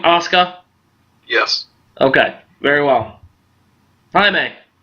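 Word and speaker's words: Asuka: be Paige or Oscar is that how you pronounce her name Oscar yes okay very well Jaime um I'm going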